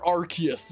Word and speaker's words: Arceus: know what the reason rcs theme sounds like but i know it's blasphemous to say but i don't think i liked arceus's theme in the or arceus as it's technically pronounced theme in the first